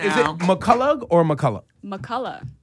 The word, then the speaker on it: McCullough: McCullough. No G H.